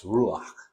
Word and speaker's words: ruach: It's ruach. É isso aqui. Ruach. Just say it like that.